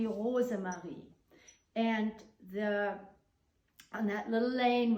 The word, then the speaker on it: Rosemarie: Rosemary, if you pronounce this in German, it would be Rosemarie.